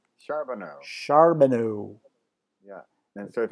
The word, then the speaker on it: Charbonneau: It's Charbonneau. Charbonneau. Yeah. And so if anybody can spell that, I'm the only one who comes up.